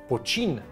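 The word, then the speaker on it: poitín: whisky, tylko ten produkt nazywał się pocin. Tak to się wymawia i możecie kupić coś takiego w Polsce.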